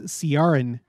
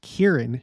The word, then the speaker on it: Kearon: name in my life I thought it was sarin you know I thought it was like maybe